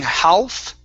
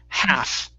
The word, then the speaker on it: half: Okay, this word here, the L is silent, so instead of saying half, okay, it's half, half.